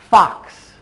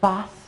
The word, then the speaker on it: fox: are four sounds ah the X makes two sounds Fox and it's amazing how many students when they're first learning to make that sound they will either say fuss or they have difficulty putting those two sounds together so try that one